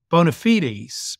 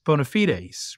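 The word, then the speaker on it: bona fides: um I I learned I pronounced the word wrong lately Bona feet bonafides right I The Bona I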